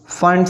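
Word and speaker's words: Pfund: पास आ जाती है फंड series. इसमें हम P लिखते तो हैं बट P साइलेंट है।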